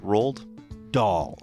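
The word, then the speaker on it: Roald Dahl: kind of from those how do you say his name doll I think is what it is rolled rolled doll okay I if it's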